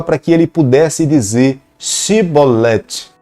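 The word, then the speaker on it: שיבולת: E quando se falava pronuncia a palavra chibolete, eles falavam cibolete.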